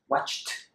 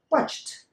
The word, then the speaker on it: watched: Watched. Watched.